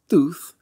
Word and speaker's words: Thoth: One, the Egyptian god Thoth, whose name is pronounced Thuth in Plato's text, and Tammuz, another one